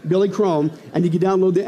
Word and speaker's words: Billy Crone: download our app search for my name it rhymes with billy chrome you know why because that's my name billy chrome and you can download the app for free